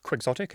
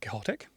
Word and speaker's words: quixotic: Do you know why we pronounce it Quixotic and not Quixotic?